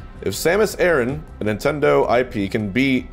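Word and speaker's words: Samus Aran: you see samus aaron the samus aaron same as iran how to pronounce samus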